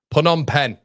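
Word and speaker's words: Phnom Penh: How do you pronounce pronunciation pun on pen? Pun on pen.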